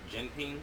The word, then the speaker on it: Jinping: come on come on i thought it was like jinping but i just i just trying to make sure it's right you know i don't want to be saying people think yeah i said it right okay back to business